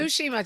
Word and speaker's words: Tsushima: Say it for me. Tsushima. Just ignore the T.